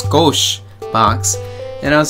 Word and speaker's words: Skoshbox: the scosche box I I originally thought of a scosh box but then I asked him you know how do you pronounce this and they said it's scosche box and I was like